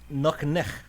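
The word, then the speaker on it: nuqneH: Nuknech is how you would pronounce it.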